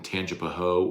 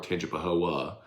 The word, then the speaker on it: Tangipahoa: Clinic in Hammond, yes, in Tangipahoa or Tangipahoa, depending if you want to say it correctly or not.